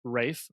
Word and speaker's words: Ralph: I did look up how to pronounce his name, and it's Ralph Fiennes, a.k.a. Voldemort. It's not Ralph? No, it's a British pronunciation.